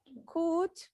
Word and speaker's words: could: Could, you don't pronounce the L. The L is silent.